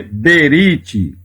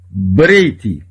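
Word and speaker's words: ברית: aqui com o rei então não se lê berit e lê break que é aliança significa aliança a palavra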